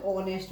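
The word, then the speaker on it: honest: ठीक है, बीन से पहले वी हैव ऑलवेज बीन, ईमानदार की ऑनेस्ट है ना, एच इसमें साइलेंट रहता है तो ऑनेस्ट बोलते हैं।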